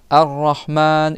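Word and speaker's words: الرحمن: Arahman tu vas prolonger le a rahman et tu mets un i à la fin.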